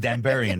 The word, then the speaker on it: Danburian: Danburian, right? That's how you say it, Danburian.